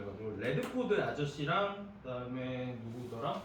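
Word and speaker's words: Radford: 그래서 레드포드, 자꾸 러더퍼드라고 발음을 해가지고 레드포드 아저씨랑 그다음에 누구더라?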